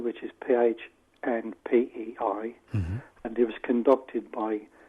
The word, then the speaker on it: Pohnpei: Because there's a pilot study being conducted in an island called Pohnpei, which is Phnpei, and it was conducted by Tateki Yeating. Forgive me, Tateki, if I've pronounced your name wrong.